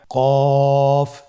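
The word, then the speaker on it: ق: কফ উচ্চারণের ক্ষেত্রে অবশ্যই তিন আলিফ টেনে পড়তে হবে।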